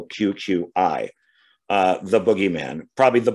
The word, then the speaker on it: Cucuy: tell their kids and i think the y is is pronounced with an i so q q i uh the boogeyman probably